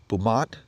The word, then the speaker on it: BUMOT: this thing pull up anywhere I know I'm pronouncing it correctly it's bumat Buu m o t um it's sold here